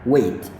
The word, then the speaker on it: weigh: ini juga sama ini g hanya harus mati jadi tepatnya adalah Wei nah ini pelafalannya sama